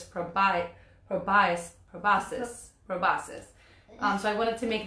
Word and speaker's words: proboscis: especially teaching about butterflies, I've always said proboscis, which is the long tongue, but that's not how you say it. So it's proboscis.